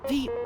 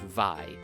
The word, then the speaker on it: Vi: So that's something to keep in mind, and also, it's because of Joan that I was convinced to pronounce V's name as V and not Vi, because I feel like that is something that is debated somewhat within the community.